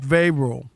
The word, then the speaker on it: Vrabel: How do you say it? Vrabel. V-R-A-Y if you do phonetically. Put those two together.